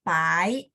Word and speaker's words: pai: Oke, pai. Kalau PAI nada 2. Bye. Ya, PH ya. Jadi kalau P bacanya ditambahin H.